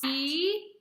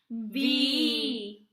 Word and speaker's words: Viognier: That's just us trying to pronounce Vee-on-YAY. Say it with us. Vee-on-YAY. One more time. Vee-on-YAY.